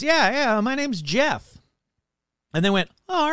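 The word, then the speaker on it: Gef: It's spelled the dumb way. It's spelled G-E-F. But it's kind of like, you know, GIF. Is it GIF or is it JIF? So I'm just going to say it's Jeff and not GIF.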